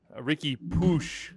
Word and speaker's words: Riqui Puig: here for mondays uh ricky ricky push is the official pronunciation so we've spent a